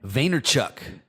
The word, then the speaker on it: Vaynerchuk: Gary Vee has said before how do you pronounce his last name Vaynerchuk Gary Vaynerchuk so maybe I'm sure a lot